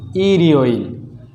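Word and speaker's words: 일요일: যেমন এখানে আছে ই রিও ইল, তাহলে রিউলটা এখানে চলে আসবে। আমরা জানি বাচ্ছিমের পর ইয়ং থাকলে বাচ্ছিমটি ইয়ং এর জায়গায় চলে যাবে। তাহলে সঠিক উচ্চারণ হবে ই রিও, এরপর হচ্ছে ইল, ই রিও ইল। এরপর যেমন মনে করেন ও,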